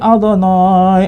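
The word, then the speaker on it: אֲדֹנָי: Saya baca Adonai karena di sini tertulis sebetulnya kalau dibaca itu Yehwah, ya. Tapi nggak boleh orang Yahudi membaca Yehwah. Dia bacanya Adonai, diganti karena itu nama yang sangat suci.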